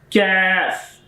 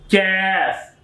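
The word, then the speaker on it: ك: And when it's Kaf, this is a different shape of the Qaf. So this is sound is Kaf. Kaf, not Qaf.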